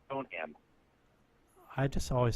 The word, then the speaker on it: Stoneham: The emphasis on the ham is Stoneham. I just always said it's Stoneham.